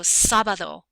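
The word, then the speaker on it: sábado: means where here um we have a d that doesn't fit those rules so it's going to sound like the th sound so sabado sabad Saturday the Double L sounds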